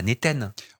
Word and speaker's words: Naten: Bon, en gros, si on le prononce entre le A et le E, ça marche. C'est Nathan, c'est cool. C'est Ça joli passe. Néten.